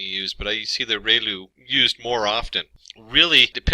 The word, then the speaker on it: ReLU: We have the sigmoid function, we have just a standard step function, we have the ReLU, it's pronounced like ray, the ray from the sun, and lu, like a name, so ReLU function.